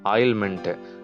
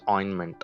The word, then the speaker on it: ointment: நம்ம வந்து நம்ம ஆயின்மெண்ட்னு கூட சொல்ல மாட்டோம், வீசே ஆயில்மெண்ட்டு. ஆயில்மெண்ட் வாங்கினேன், ஆயில்மெண்ட்னு ஒரு வேர்டே இல்லை, அது தப்பு. We have to pronounce it as ointment, right? T is silent.